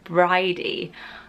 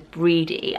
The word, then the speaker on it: Bridey: cool her face and I was pronouncing it wrong for about six months that is the name Bridey I thought it was Brede I don't know why